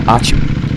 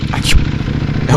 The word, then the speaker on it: Achoo: I'm Achoo. The same pronunciation as you sneeze. Achoo.